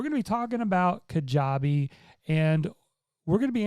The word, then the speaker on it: Kajabi: about looking into kajabi well first of all kajabi if you don't know how it's spelled is k-a-j-a-b-i dot com and that's how